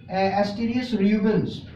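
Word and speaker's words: Asterias rubens: इसको हम बोलेंगे एस्टेरियस रूबेंस, ठीक है। एस्टेरियस रूबेंस कहेंगे, ASTER, कैन you spell the spelling?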